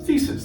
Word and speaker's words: The2is: new and super exciting thesis competition now thesis that's how you pronounce it eh it looks like the two is and in fact the